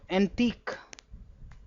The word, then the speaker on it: antique: This q u e is always pronounced as c. So pitchusk. Similarly moambi or antique.